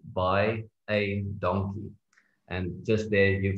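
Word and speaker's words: baie dankie: is by a donkey so for you to pronounce that all you need to say is buy a donkey and just there you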